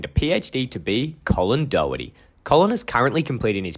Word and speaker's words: Doherty: How do you pronounce Doherty, Dr. to be Colin? Doherty, but everyone just calls me the at home, even before the pursuit of the PhD.